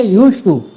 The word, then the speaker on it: used to: लिखते यूज्ड टू है लेकिन बोलते समय डी साइलेंट हो जाता है। बोलेंगे यूज्ड टू है ना दी नहीं बोलेंगे यूज्ड टू है ना